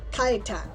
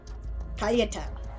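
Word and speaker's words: Kajtan: Kaitan. Okay, I will remember that. Cool. Like Yeti. Kaitan. Okay. Alright, can do. That's actually pretty straightforward. I pronounced the Polish J as a Y.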